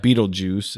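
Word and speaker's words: Betelgeuse: Well, Beetlegeist, Yeah. Beetlejuice is how it's said.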